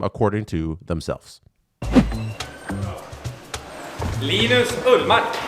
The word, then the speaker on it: Linus Ullmark: Linus Ullmark, Viktor Erik Sven Gunnar Karlsson.